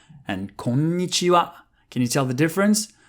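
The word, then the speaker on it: こんにちは: Konnichiwa, for example. The stress is not at the same spot. Konnichiwa and konnichiwa.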